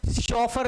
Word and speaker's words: chauffeur: शॉफर, CHAU, Shaw, और फर तो FEEUR, FEEUR, sorry, शोफर, double